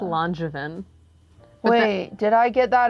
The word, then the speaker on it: Langevin: Emma Langevin or Langevin? Neither. Nobody ever gets it. Drama. It's Langevin.